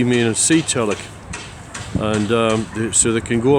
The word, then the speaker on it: Tjalk: Tjalk, T-J-L-T-A-L-J-K, Tjalk, like pronounce like that, Tjalk. And this is actually, I believe, this is what's called a Zeetjalk. Z meaning sea Tjalk, and so they can go out to sea.